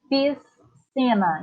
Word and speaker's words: piscina: Você não precisa de pronunciar o S e depois o C.